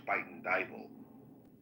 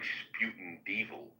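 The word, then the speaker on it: Spuyten Duyvil: Like there's a neighborhood in New York in the Bronx called Spite and Dal. But when you look at it phonetically it looks like sputin devil.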